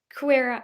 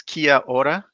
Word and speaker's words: kia ora: Kuera? Is that how you say it? It's kia ora, kia ora.